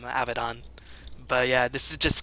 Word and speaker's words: Abaddon: that for sure but I'm always a big fan of the American pronunciation the lazier pronunciation a bad in no I'll call him abaton but yeah this is